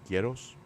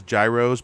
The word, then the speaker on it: Gyros: know get us Greek ghettos um good stuff um some people know them as Gyros but that's the incorrect pronunciation just so you know